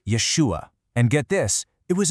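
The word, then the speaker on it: ישוע: See, back in his time, in the Hebrew and Aramaic that everyone was speaking, his name was actually pronounced Yeshua.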